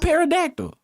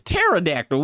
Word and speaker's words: pterodactyl: It's not parodactyl. What does This is pterodactyl with a T. Yeah, that's about right. Pterodactyl.